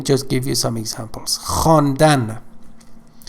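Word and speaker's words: خواندن: give you some examples honda honda means to read okay we just write it as havon dan but v is silent so as i said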